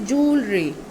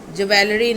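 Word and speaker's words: jewellery: Okay, next is जूलरी. ज्वेलरी नहीं, जूलरी.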